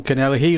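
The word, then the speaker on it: Connelly: Robson John Canelli and our people try to pronounce it as calmly but it was John Cannella he made his home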